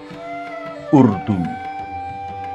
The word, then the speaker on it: Urdu: Urdu. This is the correct pronunciation of the language we are learning.